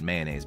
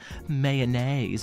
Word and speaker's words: mayonnaise: But it has that many syllables. Like, literally, that's not even a pronunciation difference. When you say mayonnaise, you are taking away an entire syllable from the word mayonnaise or mayonnaise.